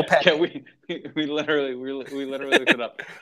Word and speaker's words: Lopetegui: It's one of those names that I cannot, like, the trying to figure out the proper Spanish pronunciation is a mystery to me. Like, We looked it up. We did look it up on YouTube, and it was yeah, Lopetti.